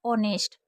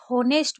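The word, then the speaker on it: honest: दूसरी है ऑनेस्ट, इसको आप होनेस्ट पढ़ेंगे क्योंकि आपको नहीं पता है कि एच साइलेंट है।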